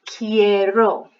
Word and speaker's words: quiero: want key air in so you can tell there's a pronunciation difference because the ones with the IE are a bit more like a key sound at the beginning quiero quieres and without the ayats a case kind of sound so Terry mas almost